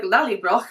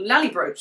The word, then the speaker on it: Lallybroch: and things like knowing that lolly rock is pronounced like lallybroch and not lolly ropes or something like that fantastic performance literally my